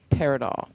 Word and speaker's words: Paridol: So, let's swing back to your band, Paridol. Paradol.